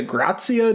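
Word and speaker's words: Dei Gratia: We looked it up, and it's like, Dea Gratia is how it's spelled. And then we watched a Smithsonian video, or the amount that the fucking government would allow us to listen to. And they called it the Grazia, despite no S.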